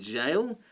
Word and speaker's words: gaol: is the english but normally this sort of pronunciation will be with a hard g like gale but obviously jail has always been pronounced this way which is one